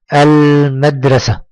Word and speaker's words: المدرسة: المدرسة، انطق معي المدرسة. نطقنا اللام؟ أي نعم نطقنا اللام. إذن فهي لام، ممتاز، إذن فهي لام قمرية لأننا نكتب اللام وننطقها.